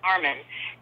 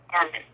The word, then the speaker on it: Armin: He'd introduce himself and he'd say, "I'm Armin," and everyone would say, "What? Armin? What?" And he said, "Just think of Arm and Hammer, Armin."